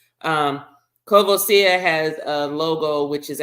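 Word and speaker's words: Courvoisier: actual logo okay so just like kavos uh or cavasier is what most people say but that's not the correct um French French pronunciation um kosia has a logo which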